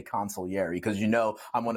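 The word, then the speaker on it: consigliere: that you like smile every time I say consiliary because you know I'm one of the few people who actually pronounce it right for you but U here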